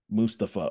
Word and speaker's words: Mustapha: So what is the preferred pronunciation of your first name? Mustapha.